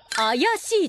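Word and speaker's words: 怪しい: 怪しいと読みます。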